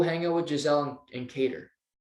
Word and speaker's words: Qatar: If you don't, go hang out with Giselle and Cater. Or Qatar. I think it's Cater. I think it's how you pronounce it.